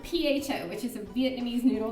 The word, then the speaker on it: pho: So I love pho or pho or however you say it, which they have.